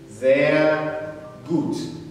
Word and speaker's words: sehr gut: Sehr gut. I expect you to be pronouncing it after me as I'm pronouncing it.